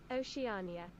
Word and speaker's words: Oceania: I'm actually pronouncing correctly Oceania Oceania there's an extra syllable in there okay because ocean Oceania